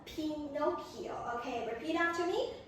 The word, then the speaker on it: Pinocchio: Okay, I think you got a brief guess, but everyone, please pay attention to the pronunciation, okay? It is called Pinocchio, okay? Repeat after me, Pinocchio.